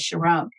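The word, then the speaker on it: Sharón: i've pronounced it as sharon which is what it's pronounced in the middle east ah beautiful all right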